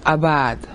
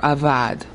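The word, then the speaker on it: עבד: The Hebrew word is abad or avad in modern pronunciation.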